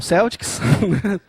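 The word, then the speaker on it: Celtx: né é sempre uma dúvida em relação essa pronúncia Celtics Temos que falar um Celtics E aí é gratuito O Celtics você consegue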